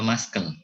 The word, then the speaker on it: muscle: Sistem skeletal, tulang, persendian, kemudian muscle, tulisannya muscle atau muscle, tapi bacanya muscle. Jadi CL-nya dibalik atau maksudnya dihilangkan, muscle.